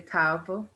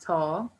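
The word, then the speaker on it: תו: Some persons say Tav or Taw. Either pronunciation is correct.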